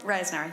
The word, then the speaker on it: Reisenauer: Reisenauer, and am I pronouncing it right, Reisenauer? Reisenauer, yes.